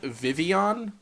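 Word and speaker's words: Vivillon: Sparky cat it's pronounced Vivion so the L is silent so it's not the villain like you don't say the L's in it that's interesting uh what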